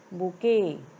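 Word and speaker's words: bouquet: हो जाएगी जाएगी इसकी यहां पर टी साइलेंट है बी ओ यू क्यू यू ई टी टी को हम नहीं बोलेंगे बोलने में यह बुके इतना ही बोला जाता है तो यहां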